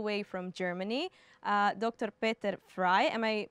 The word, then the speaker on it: Peter Frey: here all the way from Germany uh Dr Peter fry am I pronouncing it correctly very good okay thank you